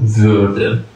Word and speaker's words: Würden: فعلی که اضافه میشوه فعل وردن است که اویش املاوت است باید خوب دقیق در قبال تلفظش اعتیاط بکنین که اوی عملای عملات واقعاً